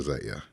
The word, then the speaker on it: Zaya: So his name was Zion. Okay. And now you want to be pronounced to Zaya. Zaya. Okay, Baby Zaya.